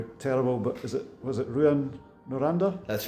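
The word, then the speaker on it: Rouyn-Noranda: My pronunciation is going to be terrible, but was it Ruan Noranda?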